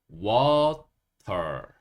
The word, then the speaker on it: water: 그리고 이 부분을 우리가 WA 이 부분을 워라고 읽습니다. 워. 그리고요, TER 이 부분을 털, 털 이렇게 읽어요. 터에다가 약간 릴 소리를 넣으셔서 털 이렇게 하시면 돼요. 그러면 water, water 이렇게 물이라는 단어를 발음할 수 있고요. 어, 미국에서는 이 T 소리를 강하게 내지 않아요. 그래서 이게 T 소리가 완전히 없어지면서 water, water 이렇게 하기도 합니다.